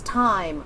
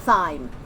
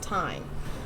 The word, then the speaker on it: thyme: bread so little thyme the herb you are speaking of is time not sign yes pronounced time also because i have